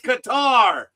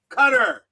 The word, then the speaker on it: Qatar: And when you ask someone from Qatar how it's pronounced, they tell you it's Qatar, not Cutter.